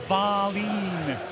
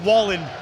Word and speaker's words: Wallin: So it is, you've got to stretch the A apparently. Wallin. Not Wallin, as he appears to be spelled.